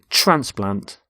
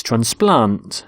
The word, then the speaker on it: transplant: both nouns and verbs we stress the first syllable in a noun and the second in a verb so the noun is transplant so a heart transplant but with a verb it's transplant so the doctor transplants hearts and here you can